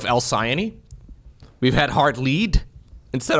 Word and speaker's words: Alcyone: So, we've had Elky 1 instead of Alcyone.